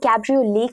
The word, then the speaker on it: cabriolet: Isse cabriolet ki tarah pronounce kiya jata hai. T is actually silent over here.